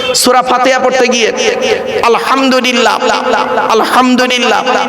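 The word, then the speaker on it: الحمد لله: সূরা ফাতিহা পড়তে গিয়ে আলহামদুলিল্লাহ, আলহামদুলিল্লাহ, এই গলার ভেতর থেকে এটা উচ্চারণ করবেন। হায় হুতি, হায় হব্বাজ নয়।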